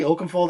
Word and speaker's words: Oakenfold: You have Steve Aoki and Paul Oakenfold. Did I say Oakenfold? I always say his name wrong.